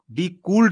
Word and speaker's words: decoaled: डिकूल्ड नहीं, डिकोल्ड। डिकोल्ड, डिकोल नहीं, डिकोल्ड spelling, spelling देखिए, DECOALED, डिकोल्ड एरिया।